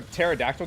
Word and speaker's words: pterodactyl: Um why can't you hear a pterodactyl go to the bathroom? Because the P is silent.